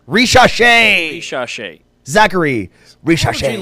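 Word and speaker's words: Risacher: Ricochet.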